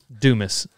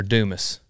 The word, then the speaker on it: Dumas: them know it's alexander dumas that's right you want me to say dumas then just put ah at the end duma anyway alexander alexander